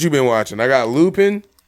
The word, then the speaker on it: Lupin: The fact that, because she said Lupin when she first started watching it. It's Lupin.